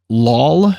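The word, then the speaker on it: Loll: second uh mr hayden lawl is that how you pronounce it well it's it's l-o-l-l he said say wall but added an l so wall um but he finished third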